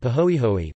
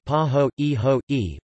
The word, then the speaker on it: pāhoehoe: are named according to the surface texture are pronounced aw and pahoehoe pahoehoe both Hawaiian words ah is characterized by a